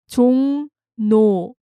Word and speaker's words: 종로: Actually, first, let's go over the pronunciation. It's 종로, 종로.